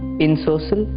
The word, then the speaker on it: ensorcelled: enchant or fascinate origin the origin is French in social that is the correct pronunciation usage she never fails to install us